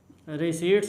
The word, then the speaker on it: receipts: उसके बाद cash book में क्या दिखाया गया कि जितनी भी आपकी टोटल कैश रिसीप्ट है, रिसीट्स होती हैं वैसे तो, पी साइलेंट है इसमें, और जितनी भी आपकी